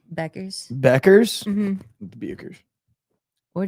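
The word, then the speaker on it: Bueckers: How do you pronounce Paige Buers's names? Buckers. Beckers.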